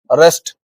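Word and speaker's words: wrest: अब इन तीनों वर्ड्स में ये क्या है, डब्ल्यू से स्टार्ट तो हो रहे हैं लेकिन इनका उच्चारण रा से शुरू हो रहा है, मतलब डब्ल्यू इसमें क्या है, साइलेंट है गाइज।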